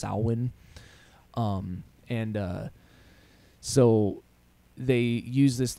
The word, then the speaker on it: Samhain: of Sal win most people commonly call it Samhain but it's actually pronounced pronounced Alwyn and so they use this like huge marketing